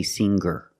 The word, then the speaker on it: singer: these words with erer I don't pronounce the G sound it's just the nasal M linked together with the r together hanger hanger there's no G sound I cannot say hanger